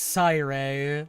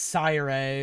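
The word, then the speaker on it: Sirei: It's Sire, not S or C. It's Sire.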